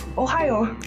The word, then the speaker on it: ohayo: remember what to say, just say the state. If you don't know how to pronunciate it, just say Ohio, and people will understand you.